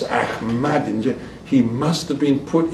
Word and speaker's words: Ahmadinejad: Ambassador, sometimes when I think of Ahmadinejad, and I always pronounce him with the mad, and with the stress, Ahmadinejad, he must have been put in there by the Mossad.